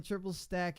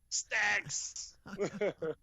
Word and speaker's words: Trippple Stak: Triple Stak in the building. Don't say it like don't say it like I did with the S at the end, because you know he was cursing me out in the chat.